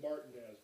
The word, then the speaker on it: Martinez: home of the mar as in Georgia they pronounce it martinz but you know that's